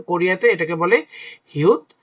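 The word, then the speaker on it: 히읗: ফু ফু হু অর্থাৎ বাংলা ব্যঞ্জন বর্ণে আমরা যে হ উচ্চারণ করি হ্যা হাস তো এইসব জিনিসটা হচ্ছে হ দিয়ে উচ্চারণ হয় তো কোরিয়াতে এটাকে বলে হিউত বা এটাকে উচ্চারণ করে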